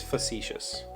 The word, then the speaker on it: facetious: and novelist facetious f-u-f-a-c-e-t-i-o-u-s i started to read the pronunciation guide and it is facetious i've i think i've emphasized it incorrectly in the past and said things like